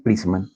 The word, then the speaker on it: Pressman: Si nosotros nos montamos a la parte de ingeniería de sistemas, Pressman, o sea, ellos como son ingleses pronuncian Prisman.